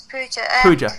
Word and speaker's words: Pooja: you say your name is it poo poo pooja yeah that's right it's puja i think somebody mentioned